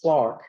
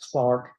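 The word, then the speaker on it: Clerk: Um, his middle name is spelled with an E, but it's pronounced Clark as if it was an A. Okay? So his name is pronounced James Clark Maxwell, Scottish mathematician and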